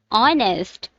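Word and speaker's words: honest: नेक्स्ट वन इज ऑनेस्ट, again H silent.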